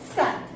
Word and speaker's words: sept: cinq, 6, six, 7, sept. Here in 7 we didn't pronounce this P. This P is silent here, so we pronounce it like set.